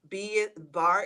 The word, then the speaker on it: Barre: Bar is spelled Barre, not. It's at the bottom of your screen, guys. Yes. Like ballet bar.